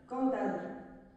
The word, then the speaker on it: cantade: y parlerait leur langue, on dirait dorénavant sonade, cantade, ainsi qu'on prononce balade, sérénade.